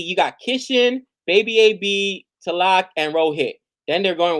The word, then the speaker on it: Tilak: It's basically Tikal. How do I say his name? Tilak or Tikal? Boomerang, and it's not Boomerang. What am I talking about? Sorry, it's Rohit. Verma. Tilak, there we go.